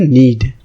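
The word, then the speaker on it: knead: हो उसको आप बोलोगे नींद ठीक है क्या बोलोगे नहीं इसकी स्पेलिंग है कि एन रेडी रेट के साइलेंट है उसके बाद कृष्णा या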